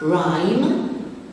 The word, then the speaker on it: rhyme: Rhyme, the silent letter is the H after the R.